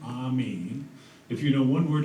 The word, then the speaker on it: AMIS: You may have already noticed we pronounce our AMIS acronym the French way. We call our association AMIS.